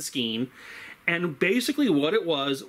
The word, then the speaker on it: skene: You can remember that easily. It rhymes. Machine hides behind the skene.